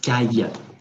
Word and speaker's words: Caille: last name correctly uh my last name is kaija in english the word with very close is for example by be a b or double double i i it's the same pronunciation works for me it's